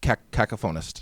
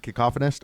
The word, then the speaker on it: Cacophonist: Okay, that's the Lord Cacoponist. Yep. Cacophonist. Cacoponist. Cuz it's a cacophony, right? And then there's production cacophony. Yeah. All right. I I said it wrong.